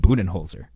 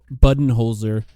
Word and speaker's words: Budenholzer: Interestingly, in the press conference, he said that his name could be pronounced as Budenholzer or Budenholzer, which I don't know.